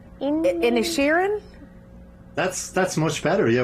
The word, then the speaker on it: Inisherin: first of all how do you say it's in a Sharon that's that's much better yeah we spoke off